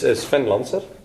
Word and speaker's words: Sven Lanser: It's Sven Lanser. So remember that, Sven Lanser.